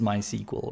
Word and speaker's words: MySQL: It's Quinc here and welcome to my tutorial series on MySQL or actually rather my SQL because that is how it's pronounced. It's pronounced my SQL, not MySQL, but I'm one of